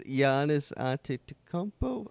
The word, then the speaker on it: Giannis Antetokounmpo: I think it's Giannis Antetokounmpo. Yeah. I think that's how the pronunciation.